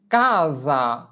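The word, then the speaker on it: casa: যদি শব্দের মধ্যে দুটি ভোকালে এর মাঝখানে এসে থাকে তবে এস এর উচ্চারণ জ এর মত হয়।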